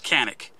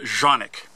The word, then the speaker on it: Canik: Now I know, to all of us, that looks like Canik, but it's pronounced Canik.